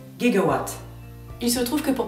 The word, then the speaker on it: giga: effet il s'avère que les Américains ont davantage l'habitude de prononcer giga avec un G dur gigaw il se trouve que